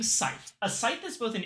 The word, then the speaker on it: Scythe: Scythe is pronounced like sigh and the soft th is smooth.